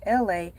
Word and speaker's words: Elay: I am your host, LA, pronounced like LA, like the city.